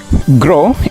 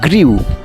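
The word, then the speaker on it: grew: So grandeur is the right pronunciation of গ্র্যান্ডিউর। গ্রো এর past form উচ্চারণ করতে গিয়েও তোমরা ভুল করে থাকো। তোমরা ম্যাক্সিমাম সময় বলে থাকো গ্রিউ।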